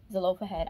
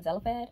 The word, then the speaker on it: Zelophehad: the daughters of zelophehad i finally said it right zalopa head i've always been saying zelipad but i forgot the oh so was the loaf ahead if i'm not mistaken